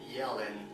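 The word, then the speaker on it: Jelen: My favorite Serbian drink of all time is Yellen. Like, I mean, you pronounce the J as a Y, Yellen.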